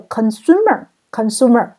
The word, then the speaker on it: consumer: 第三个 consumer。消费者在中间在第二个音节，再来是